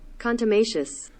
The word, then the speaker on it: contumacious: it up on Google it's contumacious contumacious contumacious that's the American here's the British contumacious contumacious contumacious so I kind of say it a little bit of both contumacious contumacious so the